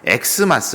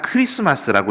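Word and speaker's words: Χ마스: 가져다가 저렇게 쓴겁니다 그래서 이것을 정확하게 우리가 읽을 때는 x 마스 라고 읽으면 안 되고 그냥 크리스마스라고 읽으셔야 되는 거야 x 마스 가 아니라 크리스마스 입니다 아 그래 이게 종종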